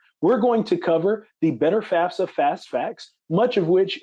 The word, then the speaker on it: FAFSA: Pronunciation is important, so it is known as the FAFSA because you're able to see it's the free application, F-A-F, for federal student aid.